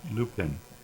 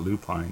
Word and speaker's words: lupine: as in kit and lupin. Lupin. So they're either way, even if you put an e on the end, it's not lupine, it's lupin.